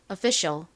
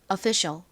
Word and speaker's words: official: official 원어 발음으로는이 f를 피읍 소리가 아니라 좀 세게 이렇게 좀 세게 발음해 주셔야 돼요. official official 이렇게요.이 단어도 요즘 생활 속에서 자주 쓰이는 단어인데요.이 단어의 의미가 뭘까요?